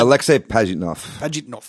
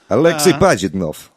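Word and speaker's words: Alexey Pajitnov: Yeah, Alexei Pajitnov. Alexei Pajitnov.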